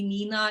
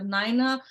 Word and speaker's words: Nyna: A lot of people can't pronounce my name. They call me Nina instead of Nyna.